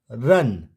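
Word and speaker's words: run: बीच में यू होगा तो यू को अ से पढ़ते हैं जैसे आर यू एन रन एस यू एन सन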